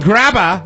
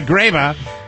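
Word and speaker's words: Graber: Yeah, Ben Grabba. Oh, I'm sorry, Graba. It rhymes with Faber, where they say, knowledge is good.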